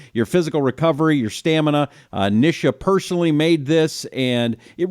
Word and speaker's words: Nisha: spelling is also an Indian name and it's pronounced Nisha which most people mispronounce my name and say